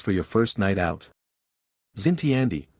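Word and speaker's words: Xintiandi: your first night out zinty Andy pronounced shinti d an area known for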